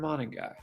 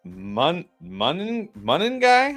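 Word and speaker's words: Monangai: Tradeaway, London, Tet, Sharps, and Tez for Buuka, Niko, and Men Guy. By the way, one of our viewers commented, "We've been It's Menuy, I believe, is the right pronunciation." Mun like Monday.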